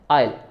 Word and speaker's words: isle: तो ISLE pronunciation दोनों words की क्या है? आइल.